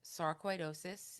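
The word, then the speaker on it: sarcoidosis: If you just say it phonetically and slow, it can be pronounced easy.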